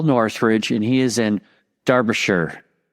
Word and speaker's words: Derbyshire: And I want to try to pronounce it right, okay? So we have Paul Northridge, and he is in Derbyshire.